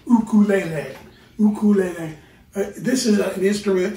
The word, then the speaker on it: ukulele: Very briefly, I would like to talk about the ukulele, or as it would be more properly pronounced, ukulele.